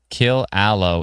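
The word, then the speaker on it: Killaloe: Kill aloe is the pronunciation.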